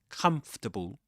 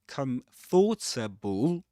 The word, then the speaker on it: comfortable: Comfortable. It's not comfortable, even though you see in the spelling 4 syllables. Comfortable. but it's pronounced comfortable, as 3 syllables.